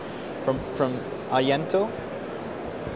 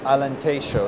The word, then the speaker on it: Alentejo: You got some of the soil here, or some of the soil from Ayento. Alentejo. Alentejo is how you pronounce it.